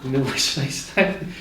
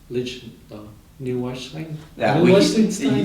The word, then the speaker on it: Neuschwanstein: Neuschwanstein.